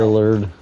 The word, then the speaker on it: Lillard: __ ] Matthew lard Leonard was that I can't say his name now Lillard Lillard thank you Matthew Lillard was there